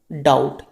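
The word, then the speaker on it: doubt: second है आपका डाउट इसे बोलेंगे तो हम डाउट टी ओ यू टी लेकिन लिखेंगे कैसे डी ओ यू बी टी इसमें जो आपका बी है ना ये क्या हो गया ये आपका साइलेंट हो गया क्योंकि आपको यहां पे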